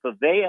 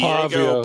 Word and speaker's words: Pavia: How do I say it? Pava. How does he say his name? Pavia.